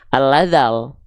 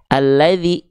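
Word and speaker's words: الذي: Ya, maka dari itu huruf zalnya kita baca bukan al-ladzal, nggak dibaca dengan vokal al lagi, ya, tapi dibaca dengan bunyi vokal i, alladzi gitu.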